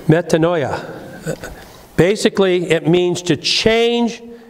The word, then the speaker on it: metanoia: But the first part of it is meta. The second part of it is mind. Noia. Metanoia.